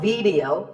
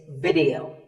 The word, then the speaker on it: video: The important thing is that both the I and the E are pronounced as short I sounds. It's not video, it's video.